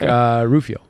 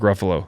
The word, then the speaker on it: Ruffalo: No, Mark Rufio. Okay, Is that how you pronounce his name? Mark Ruffalo.